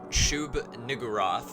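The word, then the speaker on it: Shub-Niggurath: So like the King in Yellow, Cthulhu, um, Shib Nugaroth, because the way you have to say that's kind of weird, but it's fine. Shub Niguroth is what it is. Niguroth. Niggurth is how it's spelled.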